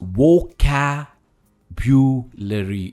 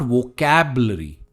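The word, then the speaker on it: vocabulary: इट्स वोकैब्युलरी, इट्स वोकैब्युलरी, इट्स नॉट वोकैबलरी।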